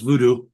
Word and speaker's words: voodoo: you guys No, it's voodoo. It is voodoo. Okay, that's how you say it.